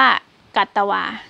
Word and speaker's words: กัตวา: เข้า ไป นะ คะ ก็ รอ เรือ ตัว นี้ ก็ จะ หาย ไป ก็ จะ เหลือ แค่ ก ก ไก่ ตัว เดียว อ่าน ว่า กัตวา กัตวา ตัว นี้ ก็ แปล